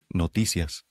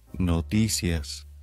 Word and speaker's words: Noticias: or intriguing so let's dive into today's word notias which means news in Spanish let's say it all together notus one more time notus